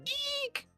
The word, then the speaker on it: Ike: People are calling me Ike. People are calling me my real name. I'm fine with both. Even even funnier because in Spanish you can say Ike or which would be like the Spanish pronunciation and people also call